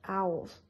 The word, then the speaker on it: owls: to hear the word owls the pronunciation for owls is two syllables adding up together it might be easier to practice saying in two syllables the first one ow